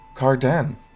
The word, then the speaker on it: Cardend: little coastal town of Carden the D is silent all right so where